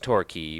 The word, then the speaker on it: Torquay: the livermead house in Torquay pronounced turkey but spelled Torquay I don't know the